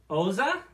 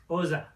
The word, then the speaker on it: Xhosa: Oza. Pretty sure that's it. You kind of have to have like in order to pronounce that, you have to have your tongue kind of between your teeth. Oza?